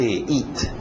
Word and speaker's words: eat: To eat, aquele T bem nítida. Eat, para no T, eat. Isso, EA, som de I, to eat.